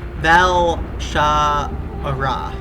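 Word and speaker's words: Val'sharah: Valshara.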